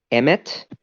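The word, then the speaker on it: אמת: wrote on its forehead three letters aleph meme stuff which are pronounced Emmett and mean truth the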